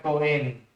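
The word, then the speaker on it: כהן: ser un sacerdote esta palabra en hebreo se pronuncia coen coen significa no como se traduce sacerdote viene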